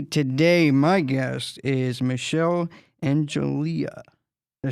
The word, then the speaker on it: Enjoli: Today, my guest is Michelle Enjoli. Did I say it right? Enjoli. Hey, I'll end it with the A, but yeah, I'm sorry. It's okay. Enjoli, right? Enjoli. Yeah. Like Jolie, like Angelina Jolie.